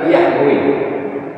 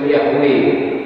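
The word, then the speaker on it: Yahweh: macam mana cara membacanya tak ada huruf hidupnya y HW lama-lama terbaca juga yahwe nama Tuhannya yahwe engak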